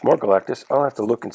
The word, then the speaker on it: Galactus: the origin of Galactus just like I used to say Rich Sanja I used to say Galacticus I don't know why he just seemed more impressive and needed more syllables I guess in store